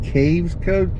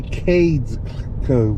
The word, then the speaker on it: Cades Cove: And I'm sorry I pronounced it caves code. It's actually cades code with a d. It's c a d e s. Cades code.